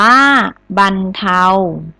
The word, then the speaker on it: บรรเทา: มาก เลย คำ ว่า บรรเทา อ่าน ว่า บรรเทา ติด ต่อ มา